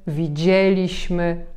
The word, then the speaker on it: widzieliśmy: Mianowicie chodziliśmy, widzieliśmy, robilibyśmy, pisalibyśmy, śpiewalibyśmy. Zauważcie, że tam, gdzie mamy końcówkę li bądź libyśmy, nie akcentujemy tej części słowa.